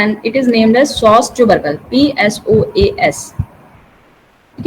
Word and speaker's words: psoas: उसी तरीके का कुछ स्ट्रक्चर यहाँ मिलता है एंड इट is named as Sos tubercle, PSOAS. ठीक है, P is silent in this Sos tubercle.